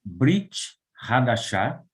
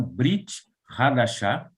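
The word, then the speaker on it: ברית חדשה: O Novo Testamento se escreve Brit Hadashah. Por favor, repitam, Brit Hadashah.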